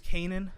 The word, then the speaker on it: Canaan: understand it might be a little hard to pronounce, Canaan, but when you tell people to spell it, it's like you told them like Peter Piper picked the pebble, and they're just like Canana, and it's like, whoa, it's like you never